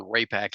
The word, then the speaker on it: Raypak: RayAC is spelled R A Y P A K. Don't put a C in there.